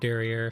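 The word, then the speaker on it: derrière: It's going to be pronounced Derriere because there's an E at the end.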